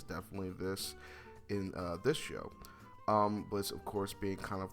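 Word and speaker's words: Blitzø: My brain just automatically wants to pronounce the O in his name.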